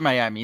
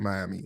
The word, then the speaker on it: Miami: Also, I feel like the people from Miami don't call it Miami. They say it like Miami.